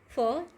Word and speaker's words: fir: नहीं बोलोगे क्या बोलोगे हाउ व विल प्रोनाउंस इट फ कैसे बोलेंगे हम इसे फ okay this is the pronunciation of this word फ अच्छा आप सभी को